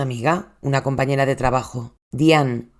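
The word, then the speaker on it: Dean: Dona pronto se hizo una amiga, una compañera de trabajo, Dian. que no dayan porque se escribe d E a n, que también estaba casada.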